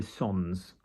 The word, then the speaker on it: sans: In a sort of higher register of English, people will often say sans in an aware way, but without is sans, S-A-N-S, sans.